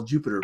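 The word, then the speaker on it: Jupyter: screen is recommended so Jupiter by the way is spelled Ju py ter because it uses Python so py part of it comes from Python and if you would just houses bail Ju py ter you Peter okay okay okay the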